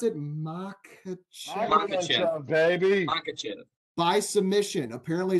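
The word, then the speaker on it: Makhachev: So I guess the lock of the night, how do you pronounce it? Makachev, baby.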